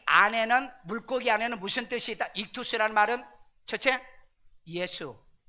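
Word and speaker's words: ἰχθύς: 물고기는 상징으로 해석하는데 이투스 이투스 받아도 이투스라고 이렇게 발음하는게 나아요 거기에 뭐 여름 볼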